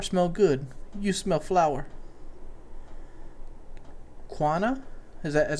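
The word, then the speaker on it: Quina: Quana? Is that how you pronounce it? People say I pronounce Quinta wrong because it hasn't got a T in it, which is obvious.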